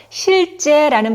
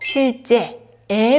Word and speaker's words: 실제: 내야 합니다 자 위 발음 유의하는 거 기억하시고요이어서 실제라는 발음에서 실제에 발음입니다에에는 입이 위아래로 크게 벌어지면서 나는 소리이지요 검지와